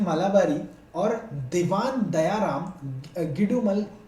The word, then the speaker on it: Malabari: तो बहराम जी के नाम से आप लोगों ने सुना होगा हिस्ट्री में, BEH स्पेलिंग लिखते जाइएगा, BEHRAMJI, बहराम जी, M मालाबारी, MALABARI, मलाबारी, और दूसरे हमारे सामने दीवान, DIVAN।